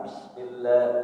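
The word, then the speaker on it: بسم الله: Bismillah, Bismillah, 2 ketukan. Bismillah, minim. Bismillahirrahmanirrahim.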